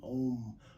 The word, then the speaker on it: Om: Not we spell it O-M, but it's actually pronounced A-U-M. Om.